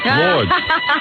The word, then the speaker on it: Lourdes: How do you pronounce it? Lourdes.